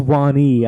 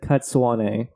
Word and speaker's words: Cadsuane: I've never heard Cadsuane or something, whatever the fuck you said. I didn't say Cadsuane. I said Cadsuane.